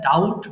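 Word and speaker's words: doubt: মানে সন্দেহ করাকে আমরা ডাউট বলছি কিন্তু মাঝখানের যে বি আছে এই বিটা কিন্তু উচ্চারিত হবে না সো এটাতে হবে সিম্পলি ডাউট ডাউট সন্দেহ করা ডাউট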